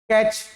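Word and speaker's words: catch: जैसे कि कैच तो टी गायब हो गया ना च आया कै च आया और टी गायब हो गया।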